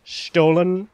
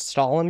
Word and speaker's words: Stollen: I'm sure it's meant to be pronounced Stollen or something. I just pronounce it Stollen because it sounds funny to me.